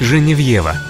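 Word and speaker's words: Geneviève: парижскую святая гена vefa более известна нам как же не в его так произносят ее именно родине во франции в переводе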